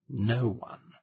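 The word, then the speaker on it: Nowan: It's pronounced no one.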